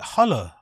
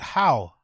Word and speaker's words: Halle: Halle. I thought you pronounce it how. Jesus Christ, it's pronounced Halle.